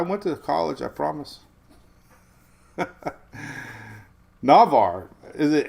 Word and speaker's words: Navarre: Navarre is pronounced Navarre with a short sound, like in the word apple. There is no H sound at the beginning of the word.